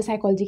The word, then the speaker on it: psychology: पहले तो मुझे साइकोलॉजी की स्पेलिंग भी नहीं पता थी. सच बताऊँ, मेरे को ये पी क्यों साइलेंट होता है मुझे ये भी नहीं पता था.